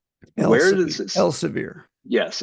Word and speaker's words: Elsevier: It's remarkable, especially with some of these favorites of deniers like the Elsevier pronunciation. Where does this? Elsevier. Yes, Elsevier.